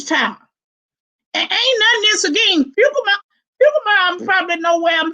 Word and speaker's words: Seguin: And then he spoke of the little town that my youngest son went to college at, Seguin, and then he pronounced it correctly, Seguin, Texas.